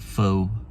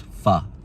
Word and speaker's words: Pho: picking up is it foe or they call it Foo actually it's called PHA Noodle and Grill some call it Pho some call it Foo but it's actually pronounced fa Noodle and Grill I